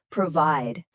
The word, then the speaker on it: provide: The stress is at the end, provide.